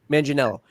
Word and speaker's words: Manganiello: Manganiello.